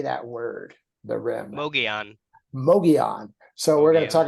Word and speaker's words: Mogollon: how do you say that word the rim Mogan Mogan so we're gonna talk about the M